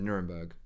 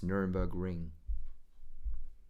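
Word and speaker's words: Nürburgring: I almost said Nuremberg, but it's Nuremberg Ring. Nuremberg Ring Grand Prix circuit. In which country? Should be simple enough. In which country is the Nuremberg Ring Grand Prix circuit?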